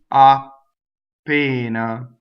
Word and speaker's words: appena: Appena. Notice my double P. Appena. So it's just a stop, right? And it's not two P's. Long vowel. I go up to the P. I don't say it.